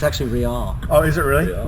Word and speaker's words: Real: Well, it's actually Real.